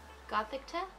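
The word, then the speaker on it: Gothita: You always say Gothica. It's not Gothica. How do you say it? There's no C anywhere. Gothicta? There you go.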